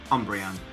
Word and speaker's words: Umbreon: one of the evolution and is Umbreon Umbreon Umbreon yes that's how you pronounce it I'm so I first saw